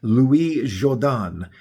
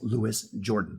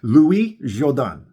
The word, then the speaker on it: Louis Jourdan: bring up his name, it still tells you the pronunciation is Louis Jordan. So, Louis Jourdan. I hope I got that right.